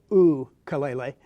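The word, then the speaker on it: ʻukulele: yes I did say ooh kaleil a because that's actually the way it's pronounced in Hawaii and the way it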